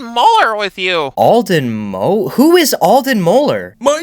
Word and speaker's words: Alden Moeller: Who is Alden Moeller?